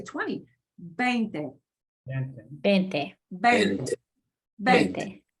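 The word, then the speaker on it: veinte: And you want to 20. make sure you pronounce it Mm.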